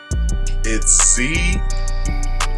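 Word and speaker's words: ze: It's Z in here. Z is spelled Z-E. Here is spelled H-I-R.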